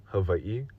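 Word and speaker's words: Hawaii: come for me for my pronunciation of Havi that is literally how you pronounce it you guys pronounce it however you want to pronounce it but I'm going to pronounce it correctly and if you have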